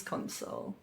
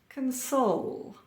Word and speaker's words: console: Stress or emphasis on the second syllable, and we have a verb. Produce. Produce. Contest. Contest. Converse. Converse. Conduct. Conduct. Object. Object. Console. Console. When we have the stress on the first syllable, then we have a noun or an adjective.